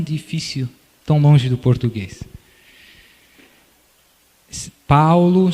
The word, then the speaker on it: Paolo: Paulo se escreve P-A-O-L-O, Maria é igual a português, e depois Ciano, S-I-A-N-O.